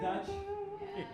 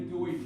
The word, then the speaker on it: Deutsch: You guys ever hear of Pennsylvania Dutch? It's a mispronunciation. It's Pennsylvania Deutsch.